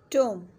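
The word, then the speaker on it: tomb: टोम, इधर B silent है, हम इसे सिंपल कहेंगे टोम।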